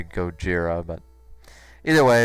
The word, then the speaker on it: Gojira: know in the American Godzilla film that was what they mispronounced him as or whatever or they mispronounced as Godzilla when it's actually go Jiro but either way it's